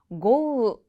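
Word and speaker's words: 豪雨: 호우는요, 고우, 고우라고 합니다.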